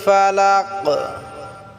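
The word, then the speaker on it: فلق: রাহমানির রাহিম আউজুবিল ফালাক প্রিয় বন্ধুরা আমার এখানে বড় কাফ আমাদেরকে উচ্চারণ করতে হবে এটা আমাদেরকে আইন গলায়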